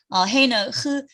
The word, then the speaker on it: ה: 그리고 헤이는 그러니까 그냥 이거는 가래받는 소리 아니고 그냥 해. 그 영어의 hat 모자 할 때 hat 할 때 그 h 발음이고 그러고 또 그 단어 끝에 오면 묵음이에요. 소리 안 나요.